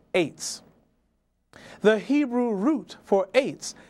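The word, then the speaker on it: עץ: 90, reference number 6086, tree in Hebrew is spelled from right to left, ayin to sadi sofit, pronounced eights.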